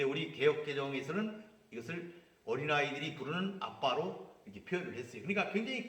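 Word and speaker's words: אבא: 이게 이제 아빠라는 단어는 아람어인데 거기서도 아빠라고 해요. 거기서도 아빠 이렇게 발음이 돼요.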